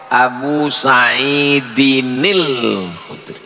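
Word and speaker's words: أبي سعيد الخدري: Abu Sa'idin Al-Khudri, kalau disambung muncul nun kecil, namanya nun wiqayah. Abu Sa'idinil Khudri, begitu cara membacanya.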